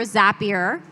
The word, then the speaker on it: Zapier: Chris Patrick is the head of people ops for Zapier. I am saying that right because it rhymes with happier been told.